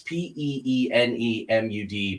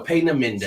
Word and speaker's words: Peenemünde: phonetic spelling, but it was a place called Peenemünde. It's Peenemud, but she's big on German pronunciations. So Peenemünde.